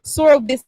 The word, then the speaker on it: Sorobis: Pronounce the name again. Sorobis USA. Sorobis. BIS? Yes. Sorobis. Sorobis.